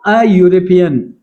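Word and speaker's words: European: यहाँ पे देखो यूरोपियन, यहाँ पे देखो ई जो है क्या है, वो साइलेंट है, यू से स्टार्ट होता है, यू किस तरह प्रोनाउंस होता है, इस यू की तरह, तो हमने अ का इस्तेमाल किया इंस्टेड ऑफ एन।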